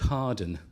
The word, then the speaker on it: Hawarden: A place called Harden. Where's Harden, ladies and gentlemen? It's spelt Hawarden.